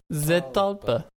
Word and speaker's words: Zetalpa: Zetalpa? Am I pronouncing that correctly? Zetalpa.